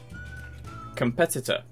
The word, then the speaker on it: competitor: Administer, beneficial, competitor, democracy. Administer, beneficial, competitor, democracy. Answer here, two. Sorry, it took me a second to reread them all. Beneficial. Third syllable, beneficial. Administer, second syllable. Competitor, second syllable.